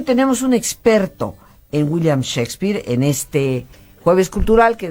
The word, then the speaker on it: Shakespeare: pronto y rápido pero en realidad no se dice chaques peare se dice Shakespeare pero tú llámalo como